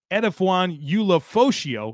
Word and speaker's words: Edefuan Ulofoshio: side of it I want to talk about edaan Ula foso I know you guys didn't think I was going to pronounce that correctly well jokes on you uh